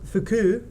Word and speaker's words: Foucault: for the French physicist Jean Foucault pronounced fuku who used it in